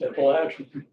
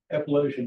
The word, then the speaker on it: Appalachian: I got corrected in that real quick by one of my colleagues. It's Appalachian. Okay. So Appalachian just doesn't sound right to me anymore, even though that's what it's pronounced.